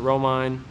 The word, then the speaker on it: Romine: Saradici rhymes with peachy, and this is Romine, rhymes with coal mine.